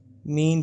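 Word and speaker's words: mesne: Clause 12 मीन profit. इसमें S silent है, मीन profit पढ़ते हैं।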